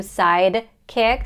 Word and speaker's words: sidekick: side kick side kick I would hit the sound because if you say side kick it can sound like a totally different word with totally different spelling but the same pronunciation psychic psychic a psychic